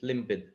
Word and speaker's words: limpid: sorry to intervene uh if it is l-i-m-p-i-d limpid oh yeah it's like i-i-d okay and it's pronounced as a slim pin so it's a request